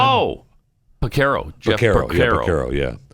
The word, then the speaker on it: Porcaro: How do you pronounce his last name? Oh, Porcaro.